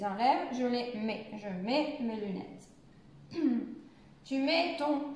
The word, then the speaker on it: mets: On ne prononce pas le T, mais le T est avec le E, donc ensemble, c'est un E. Voilà, c'est pour ça. Donc, je vais commencer ici. Je mets mes lunettes.